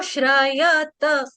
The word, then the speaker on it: श्रयत: हां देखो श्रयत श्रयत इसको एक एक वर्ड करके एक एक वर्ण के साथ पढ़ो फिर आपका पूरा आ जाएगा ऐसे श्रयत श्रत श्रत श्रत श्रयत ऐसे गलत आ रहा था श्रयत श्रय हां पूरा पढ़ पढ़ेंगे ना फिर ठीक आ जाएगा और लास्ट वाला जो